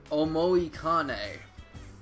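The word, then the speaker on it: Omoikane: fused an O ano omoi Kane that is the correct way to say it I think it was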